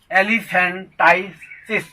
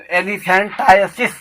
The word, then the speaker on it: elephantiasis: Next word है एलिफेंटाइटिस, एलिफेंटाइटिस, टाइसिस, ELEPHANTIASIS। तो एलिफेंटाइसिस, एलिफेंटाइसिस, correct pronunciation एलिफेंटाइसिस, एलिफेंटाइसिस। तो gross enlargement of the body.